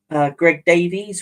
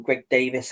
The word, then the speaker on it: Greg Davies: I've seen Greg Davies, or Greg Davis, however people want to pronounce it. I hear it pronounced both ways.